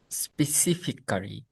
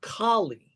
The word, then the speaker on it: specifically: Specifically, Specifically. no, it's not Kali. It's like Specifically. like if you imagine clean, clear, Mhm. clee, Cre- specifically. Specifically. Yes, there you go. Specifically. So there's four syllables.